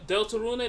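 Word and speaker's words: Deltarune: We'll probably with with Delta Rune.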